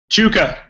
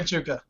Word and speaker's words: Chewka: Darren how do you say your last name Chuka okay Mikey had it right all right Darren Chuka thought it was some weird Canadian pronunciation it's